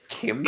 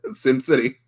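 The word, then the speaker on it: SimCity: Kim City. Kim City. No, it's pronounced same. Sim City.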